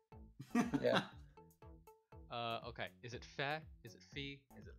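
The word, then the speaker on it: Fae: I'll plug it at the end, I don't feel like... Yeah. Okay, is it Fe? Is it Fee? Is it Iron? Fey. Fey. My bad. Fey. Iron. They said it. They said it in the direct. Fey.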